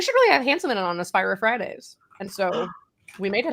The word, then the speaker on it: AspiriFridays: And everyone was like, you should really have Hanselman on AspiriFridays. And so we made it happen. Just like that. User feedback driven. It's Aspire if Fridays. AspiriFridays. It's You gotta slur a little bit.